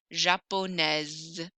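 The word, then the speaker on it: japonaise: e s is there same thing with the adjective japanese i'm going to hear the letter s japones japones so i don't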